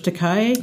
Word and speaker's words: Takei: One is called They Called Us Enemy by George Takei. Oh, yeah. Takei, yeah.